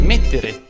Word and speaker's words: mettere: Mettere. In questo verbo la E va sempre pronunciata chiusa.